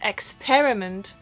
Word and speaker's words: experiment: but I know that a lot of Germans will pronounce this as experiment, like experiment, when it is experiment, like with an E, not an I.